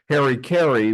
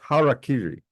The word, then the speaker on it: harakiri: organization well another term that is frequently uh mispronounced and I will uh say Harry KY which sounds more like a uh a baseball announcer in Chicago uh it' be more properly pronounced harakiri and I didn't use that term harui because